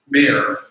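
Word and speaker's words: Meir: His name is, I better spell it, M-E-I-R, Mayor, Statman, S-T-A-T-M-A-N.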